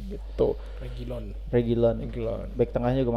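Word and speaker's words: Reguilón: ya eh sori Ben Davis kanannya Pedepora sama Regulion gitu regilon Regilon Regilon back tengahnya juga mantap back tengahnya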